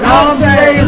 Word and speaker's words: Knomsai: Knomsai? Knomsai Radio.